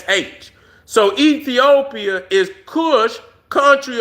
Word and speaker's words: Kush: went over to Ethiopia, and in Hebrew, it's Kush. See, and they pronounce it Koosh.